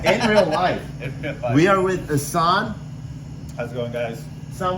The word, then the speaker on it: Hassan: So I've been saying Hassan with an Hassan. A. Is it Yeah, Hassan, yeah. Okay. Hassan, if you want to be like Hassan? more phonetically Yeah. correct. It's an Arabic name. It's supposed to mean beautiful. When you start changing the phonetics, it could mean jackass.